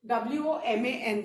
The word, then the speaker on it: woman: जब हम किसी एक औरत के बारे में बात करेंगे तो WOMAN लिखेंगे and this is pronounced as woman.